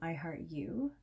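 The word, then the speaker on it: IHeartEwe: So if you're looking for me online, everywhere else on the interwebs, I am IHeartU, and that's spelled E-W-E, like a sheep.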